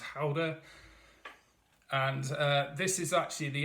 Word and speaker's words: Gouda: as I my dutch boss tells me it's pronounced it's a or Gouda as some people have pronounced it apparently it's pronounced holder and this is actually the XO reserve I